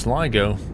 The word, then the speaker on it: Sligo: It's pronounced Sligo.